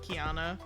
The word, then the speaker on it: Qiana: I spell it Qiana. I took it from I'll be honest, I took it from a baby name site and I really like fell in love with it. And I was like, from the pronunciation key, it sounds like it looks like it should be pronounced like this.